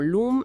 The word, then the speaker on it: LAM: Por ejemplo, mencionan LAM, que se pronuncia como LUM largo, asociado al primer chakra,